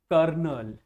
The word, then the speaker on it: colonel: word that has one or more than one silent letters. So my dear student the first word is kernel.